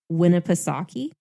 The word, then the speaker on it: Winnipesaukee: miles on oh goodness i know i looked up how to say this and i think it was said the way that i thought it was lake winnipesaukee yeah i've heard that